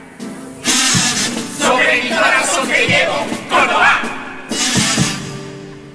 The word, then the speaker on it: Córdoba: Sobre el campo la verdad, sobre mi corazón que llevo, Córdoba. Quieto, el acento en la O, no en la A.